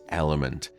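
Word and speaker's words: LMNT: of today's podcast is element uh and that's spelled l m NT now element is a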